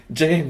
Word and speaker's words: James: parce que ça la la prononciation officielle c'est James et donc là James